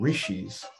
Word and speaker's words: rishi: down by individuals called rishis which is often spelled RSI but pronounced Rishi and which means seers